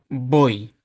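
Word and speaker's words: voy: Бой бой. Читаємо. Бой. бой. Так, нагадую, що на початку слова зазвичай літера ув читається як бй бой тус ustт vamos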